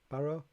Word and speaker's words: Barrow: pronouncing your surname right is it barrow barrow that's actually really good yeah it's it's